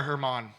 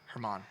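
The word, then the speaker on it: Germán: German or Herman. It's spelled like German, but Herman.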